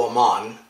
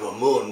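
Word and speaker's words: Amun: and the temple to Aman which is the way that the berbers out in that area pronounced it instead of a moon which is the way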